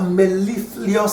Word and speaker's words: mellifluous: day, you'll become a mellifluous speaker. Even the word mellifluous is a word. Mellifluous. You become a mellifluous speaker. You become a sweet speaker. So, mellifluous has 3 syllables but 1 morpheme, but it's a word.